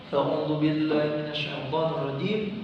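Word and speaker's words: أعوذ بالله من الشيطان الرجيم: Ini kalimat biasanya banyak yang salahnya di huruf shin. Karena ini huruf shin, huruf sya besar, shin besar. Tafashi ada tekanan udaranya. A'udzu billahi minasyaitonir rajim.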